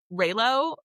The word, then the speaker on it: Reylo: Reylo, I think it's how you say it, like Rey and Kylo Ren from Star Wars fan fiction.